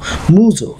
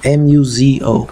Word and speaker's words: Muzo: I think they're the Muzo mines, or how do you pronounce it, Muzo, M-U-Z-O, Muzo mines that produce the best emeralds, and